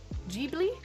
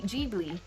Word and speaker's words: Ghibli: white jib ghibli jeebly the japanese katakana pronounces g g ghibli jeebly so i was completely wrong i was saying like ghibli or ghibli so it's g jeebly all right i was